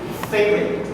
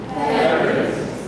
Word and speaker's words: favorite: Looks like there are 3 syllables. But actually, when you hear people pronounce it, it's only 2. So let's practice favorite. Favorite.